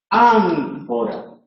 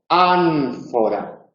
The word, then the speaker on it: ánfora: Si la siguiente consonante es labiodental, escribimos ánfora. Pero fijaos y pronunciad conmigo, en casa también, si queréis, y si tenéis un espejo en casa delante del espejo, ánfora, ánfora. Y esa N lleva los labios a los dientes superiores, aunque por supuesto la